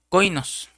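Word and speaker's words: κοινός: Aquí se refirió el apóstol a Tito como un compañero y esa palabra compañero se deriva de otra palabra griega que se pronuncia coinos, que quiere decir el que tiene comunión conmigo.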